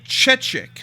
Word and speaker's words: Chechik: insomniac uh anyway let's move on uh Adriana chechik is that how you pronounce her name yes uh so twitchcon just